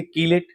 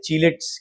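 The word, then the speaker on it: chelate: देखिए यहां पर एक कैरल है क से हुआ इसको क्या पढ़ेंगे किलेट यहां किलेट नहीं पढ़ते यहां चिलेट पढ़ते हैं सब जगह अलग-अलग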